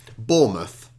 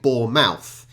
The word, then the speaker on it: Bournemouth: places in the UK Bournemouth and you hear the the Americans saying boar mouth it's almost over emphasizing it's almost creating two words from one um Hampshire I'm from